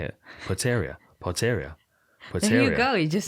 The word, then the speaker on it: Potieria: Potieria.